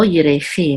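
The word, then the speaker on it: ירכי: So yerechi, my thigh, and the accent is on the last syllable, yerechi, my thigh.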